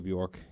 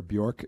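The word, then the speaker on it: Björk: had told me that you don't pronounce the J and I kept saying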